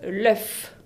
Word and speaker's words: œuf: Ahora si está en singular, on prononce l'œuf. L'œuf con una F al final.